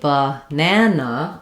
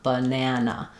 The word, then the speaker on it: banana: the word banana, um, when I say banana, I'm using a schwah, a clear vowel a, and an unstressed schwa. So my stress syllable, the a does say ah, the unstressed syllables, I have the schwa sound, banana.